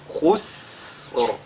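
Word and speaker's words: خسر: Ce qu'il faudra donc qu'on fasse ici, c'est d'allonger la prononciation, n'est-ce pas, de ce signe-là. Donc, khus. Et le Ra suit après. Khusr.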